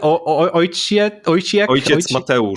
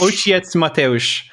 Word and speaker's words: Ojciec Mateusz: How do you pronounce it? Ojciec Mateusz. Ojciec Mateusz.